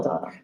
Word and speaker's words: Dana: So Dana, if you wanna, is it Dana or Dana?